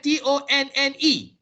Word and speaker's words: tonne: Now British, they also have TONNE. All right, they also have TONNE. So the NE is not pronounced. So the American has taken off the NE. So it's just TON.